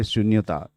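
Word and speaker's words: Xunyota: ऑ टू 30 minutes again the pronunciation is difficult it's ओमिया name उनता सो ट्स एक्स यू एन वाई ओ टी ए I mean we call शून्यता इट शून्यता actually but they pronounce like that a producer H एम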